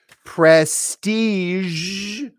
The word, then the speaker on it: prestige: it but right there beige it's a color so she's wearing a beige dress here are some other words where that Z is at the very end massage that's how we say it here's another one Prestige that's how we say it Prestige thank you where sh